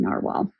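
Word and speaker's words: Nahvalur: He was the one that gave me the clarification on the pronunciation of Noveler really being narwhal.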